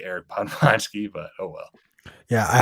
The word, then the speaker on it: Podwojski: Like if you're my Polish relative, it's Podwojski. If you're my brother, it's Podjowski. If you're me, it's Podwojski.